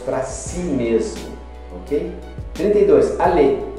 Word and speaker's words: aller: Aller. Aller não pronuncia o R e é um verbo.